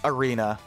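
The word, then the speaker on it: Erina: It's Arena. I know. I know. It's a pun. It was unintentional. It's spelled E-R-I-N-A.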